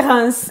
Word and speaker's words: Reims: Ah ouais, la quatrième, c'est Reims. Voilà. La quatrième, c'est Reims. Tu l'as très bien prononcé. Donc, E-I-M se prononce 1 et on prononce la lettre S. Reims.